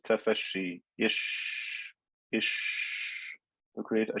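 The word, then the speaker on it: tafashshi: only applies to sheen when i pronounce the sheen as we said the tongue goes up and touches the middle part of the mouth and also that requires air flow between the teeth this is tafeshi ish ish to create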